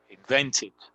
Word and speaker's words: invented: Invented. Don't get the pronunciation wrong here. This is pronounced as a like an id, so it's invented.